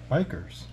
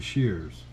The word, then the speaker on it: bichir: all right it's feeding time for these bikers so the correct pronunciation of these bikers are called the shears and these the shears are actually they're primitive